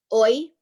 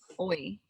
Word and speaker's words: oi: Oi is hello. Okay. Yes. Oi. O-I.